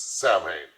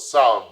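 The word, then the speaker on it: Samhain: Festival of sin now a lot of people see that word and think it says Sam no the word is pronounced s now when people it's the Celtic Festival of sound when people would light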